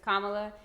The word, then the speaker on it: Kamala: And so we're super happy about Kamala, and I've heard some people even today still mispronouncing her name, so I hope that we can all get behind the right pronunciation, which is Kamala Harris.